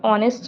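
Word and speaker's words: honest: वैसे ही ऑनेस्ट में भी क्या है, एच साइलेंट रहता है तो ओ, तो एन ऑनेस्ट।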